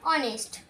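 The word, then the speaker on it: honest: একই এখানে এইচ টা হচ্ছে সাইলেন্ট ওয়ার্ড তাহলে উচ্চারণ হচ্ছে অনেস্ট এখানে এমএল এ এখানে এম এর উচ্চারণ এর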